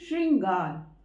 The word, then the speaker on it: श्रृंगार: इसको मिला के हम प्रोनाउंस करते हैं श्र। ठीक है, तो जब ये है श्र और हम बोल रहे हैं शुद्ध रूप में श्रृंगार।